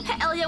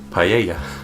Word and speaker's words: paella: Paella. Paella. Paella. It's as if it's Spanish because like the two L's make a Y sound.